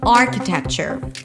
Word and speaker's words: architecture: Architecture. Primary stress is on the first syllable, R, as in car.